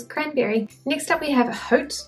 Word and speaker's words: Haute: Haute is a French word, right? So wouldn't that mean that the H is silent?